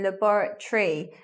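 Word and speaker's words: laboratory: like that saying memory let's look at the buret tree in this words lebar Tori five syllables but we don't say like that we say libera tree words with T o ry on them we're not saying Tori like the political party we leave it so it becomes libera tree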